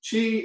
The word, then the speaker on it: Qi: And I just want you to remember this, Qi is pronounced Qi, and it's a Scrabble word, so this could help you quite a bit.